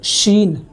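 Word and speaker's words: شین: Scene और शीन को differentiate करना बहुत ज़रूरी है, वरना सीन और शीन में अगर हम अलग अलग दोनों का उच्चारण नहीं करेंगे तो उसका मतलब बहुत ज़्यादा बदल जाता है।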